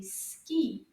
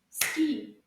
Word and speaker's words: ski: The S at the end, my friends, is silent. Shh, it doesn't say a sound. Ski. Can you repeat after me?